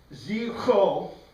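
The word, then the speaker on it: ζόφος: And pronouncing this, Zipho, the PH is a really hard sound, Zipho.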